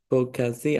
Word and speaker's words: Boğaziçi: who's a professor at Boğaziçi. I don't know how to say this name. University. Boğaziçi, soft G.